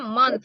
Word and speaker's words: month: 1 Bacanya month ya, ada th-nya. Jadi pas month. kamu pronounce atau pas kamu ucapkan itu ya kan ada th-nya. Jadi lidah kamu tuh di antara dua gigi.